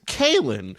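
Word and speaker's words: Kahlan: sort of say instead we're pronouncing sort of the main female leads name as Colin well I say Colin yeah whatever it's come on come on Colin whatever a show says Kailyn which is like some American suburbia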